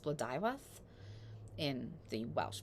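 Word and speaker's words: Blodeuwedd: of the name it would more appropriately be pronounced bludivas in the Welsh pronunciation even Guinevere who is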